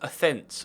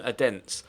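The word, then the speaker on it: Odense: uh AED outar beaten I've been told by my Danish followers pronounced offence rather than a den so uh a fence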